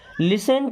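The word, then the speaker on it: listen: never means कभी नहीं लिसन carefully लिसन मीस होता है सुनो यहां पे टी साइलेंट लिसन मीस सुनो केयरफुली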